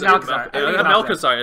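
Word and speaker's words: Malchezaar: I think it's Malchazar.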